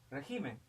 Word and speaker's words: régimen: Régimen, régimen es una palabra adoptativa. Régimen, ¿no? Régimen, régimen, ¿ok? Es esdrújula, tenemos acá.